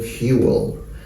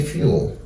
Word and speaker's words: fuel: can see the transcription Fuel and they can also say fuel fuel so if you listen this comes in in two beats fuel will Fu but